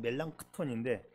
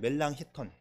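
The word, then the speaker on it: Melanchthon: 단짝 친구인 멜랑 힙턴 미국식으로 발음한 발음하면 멜랑쿠톤인데 저는 미국에서 공부했기 때문에 멜랑크톤 멜랑커톤 그렇게 늘 읽었는데 이제 독일 말로 하면 멜랑 힙턴이 단짝이야 둘도 없는 친구입니다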